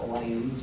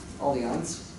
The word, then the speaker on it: Allianz: Okay, I think that's how you pronounce it. It's not Allianz, it's Allianz.